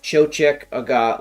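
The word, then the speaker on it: Toiteach a Dhà: spelled doesn't matter but it's spelled t-o-i-t-e-a-c-h space a space d-h-a with the little like Baba I'm pretty sure it's pronounced Cho check AGA like I Ralphie or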